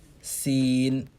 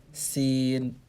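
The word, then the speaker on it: س: an empty muscle letter the next letter seen seen scene is the same way you say the word s-e-e-n in english scene scene scene the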